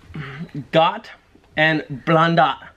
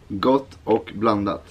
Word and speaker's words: Gott och blandat: Gott and blandat. Gott och blandat.